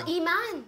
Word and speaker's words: Imane: Tout le monde sait comment prononcer mon nom. Ah! Iman. Ah oui, parce que... Non, Iman. Ah! J'écris mon nom, ils disent, ah, Iman, OK, merci. J'adore! Parce que... Ils disent quoi? Aymani, un truc comme ça, les Américains?